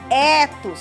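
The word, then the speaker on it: ἔθος: a primeira palavra grega se chama Ethos com e curto isso mesmo que pode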